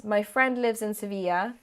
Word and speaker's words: Sevilla: my friend lives in sevilla that's the correct spanish pronunciation i said seville earlier because that's how you say it in english but um so my